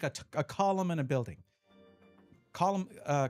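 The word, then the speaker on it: Colm: I I I have a friend um it's C O L M is his name. Uh but he's like just say column just say like a a column in a building.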